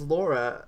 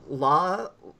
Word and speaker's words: Lara: I thought her name was Laura. And people, I still pronounce it that way, but he called her Lara.